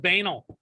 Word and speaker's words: banal: I think that's pronounced banal. But I said banal because it's closer to banana.